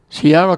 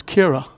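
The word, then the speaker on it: Ciara: the first time but I was pronouncing Sierra Collins his name the way it was written and I found out that they they pronounce it differently it's Kira so it will be kira collins from now on skips all the way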